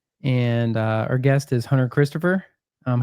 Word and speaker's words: Hunter Christopher: And uh our guest is Hunter Christopher. Um how do you say your name again? It's Hunter Christopher. Um short C. Yeah, with a short C.